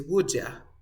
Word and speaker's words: would you: So that's the reason, esa es la razón por la que se dice would ya. Profesor, ¿por qué dices would ya? Si en el diccionario dice would you, pronuncia would you. Yeah, it's okay, but in the real life it's different. En la vida real es distinto. Dicen would ya.